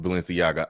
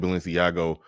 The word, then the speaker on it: Balenciaga: is telling me in the back that it's pronounced Balenciaga I've been calling it balenciago for the longest and I don't think I'm